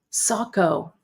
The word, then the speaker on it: Saco: Saco. Oh, okay. Saco. Good to know. Saco, Maine.